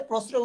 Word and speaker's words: প্রশ্রয়: আমরা যদি দেখি প্রশ্রয়, ঠিক আছে, প্রশ্রয় উচ্চারণ আমরা স উচ্চারণ করি, সেজন্য এখানে দন্ত স ব্যবহৃত হয়েছে।